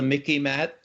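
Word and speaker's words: MICIMATT: what i call the mickey matt okay it rhymes with mickey mouse it's the military industrial congressional intelligence media academia think tank complex okay mickey man remember it all right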